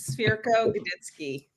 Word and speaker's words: Cwirko-Godycki: I am joined here today by Mike Swire and Cwirko-Godycki. Now, did I pronounce that right? Close, very close. Cwirko-Godycki.